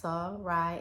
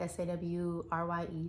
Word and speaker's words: Sarai: going to be talking about Sarai and that's pronounced sirai s-a-w-r-y-e saw Rye many may know as Sarah and